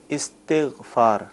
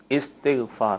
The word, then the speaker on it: استغفار: اس کا تلفظ کیا ہے یہ ارشاد فرمائیں۔ صحیح تلفظ ہے استغفار، ٹھیک ہے، الف کے نیچے زیر ہے، استغفار، ٹھیک ہے، لیکن جب